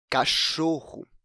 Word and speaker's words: cachorro: se trata isso porque a sua penúltima sílaba a sílaba choro é a sílaba tônica da palavra a sílaba mais forte quando a gente pronuncia cachorro bom como eu acabei de